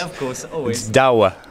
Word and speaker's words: Douwe: really hard to pronounce there's one country in the world that can actually pronounce it and that is the Netherlands of course always dawa dawa dawa dawa dawa it's